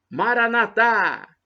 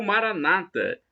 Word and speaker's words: Maranata: o aramaico, eu clamo: Maranatá! Com a tônica na última sílaba, como dizemos nós católicos, ou Maranata, com a tônica na penúltima sílaba, como dizem os nossos irmãos separados, os protestantes ou evangélicos.